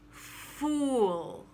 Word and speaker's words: fool: called a fool and this is not the same thing as full or fall it's round ooh fool and it can be one short syllable full or a little longer fool sounds a little double you might want to slip a little w sound into the last syllable fool just to be